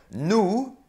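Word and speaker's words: nous: because they have plural so nu n o u s we don't hear the s new sum if we're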